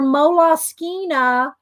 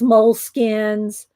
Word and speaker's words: Moleskine: They're Moleskine. That's the correct pronunciation. People call them moles, moleskins, moleskines, but I actually looked it up on their website once, and they pronounce it Moleskine.